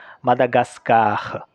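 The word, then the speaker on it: Madagascar: French में भी और इसका प्रोनंसिएशन होता है मादागास्कर मादागास्कर यह एक मैस्कुलर हम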